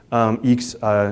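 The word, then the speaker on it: IAX: you would have a default dial plan and eeks trunk eeks is how you pronounce IX the international exchange protocol the protocol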